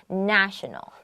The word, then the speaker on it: national: this is the noun the adjective is national with a short a means nation national very good night these